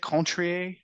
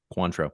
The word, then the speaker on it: Cointreau: and then how you say it, Contrier, Cointreau, Cointreau.